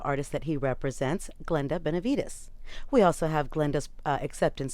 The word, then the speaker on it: Benevides: Benevides. Benevides.